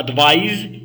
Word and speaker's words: advise: أنا الأولى النصيحة advice هي النصيحة و advise هي تنصحوا. أوكي or formally provide information. Advise is pronounced with an ending sound like I-Z-E eyes تتنطقنا eyes.